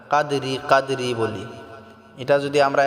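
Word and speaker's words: قدر: উচ্চারণ করতে পারি না কাদরি কাদরি বলি এটা যদি আমরা এক নিঃশ্বাসে পড়ি তাহলে কাদরি ওয়ামা হবে যদি আমরা এখানে ওয়াকফ করি থামি তাহলে রাটাকে আমাদেরকে সাকিন করতে হবে কাদর লাইলাতুল কাদরমাটা আমরা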